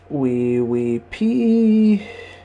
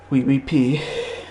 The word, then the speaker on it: WIWIPA: We pee. And no, it's not spelt how you think it's spelt. It's WIWIPA. We pee. As in like French, kind of wee, as in yes, yes.